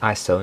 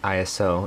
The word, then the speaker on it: ISO: i heard that's pronounced iso not iso it's not an acronym aperture and shutter speed